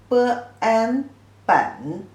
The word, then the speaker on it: 本: The pronunciation is 本 third tone.